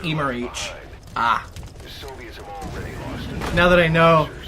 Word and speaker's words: Emmerich: Oh, it's pronounced Emerich.